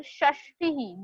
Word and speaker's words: षष्टिः: एंड one more important spelling in this table, षष्टिः. दोनों भी षटकोण वाले श है, षष्टिः, एंड टी इज ह्रस्व, शॉर्ट.